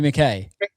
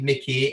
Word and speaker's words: McKay: Is it Harvey McKay or Harvey McKay? It's spelt McKay, but it's actually pronounced McKay.